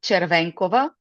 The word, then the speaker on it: Chervenkova: The So the last name is pronounced Chervancova. So it's a Slavic name uh as I am located in Eastern Europe.